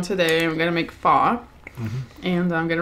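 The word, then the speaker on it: phở: Like, F-U-H. Pho. Mm-hmm. Not pho. Pho. Well, that's what it's about. Like, because if it did sound like how it's, you know, it did, West Pines how it's spelled, it would make it like sound like faux as in like fake.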